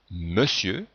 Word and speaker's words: monsieur: en profite pour signaler trois mots ou autre on retrouve la prononciation eux alors qu'en fait on n'écrit pas on ne retrouve pas la lettre e dans monsieur on entend bien le sont eux mais on les grilles au